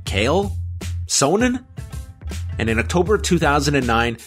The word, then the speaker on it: Chael Sonnen: promote a fight but simply how do you pronounce his name kale sonan and in october of